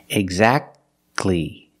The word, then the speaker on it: exactly: don't say exactly exactly don't pronounce the T exactly you go from that sound to the uh sound exactly exactly or the word